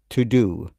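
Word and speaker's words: Teux Deux: a calendar call and I will try to pronounce it it's a like a fun with playwood words t e u x d e ux so to do in a so-called French style and if you look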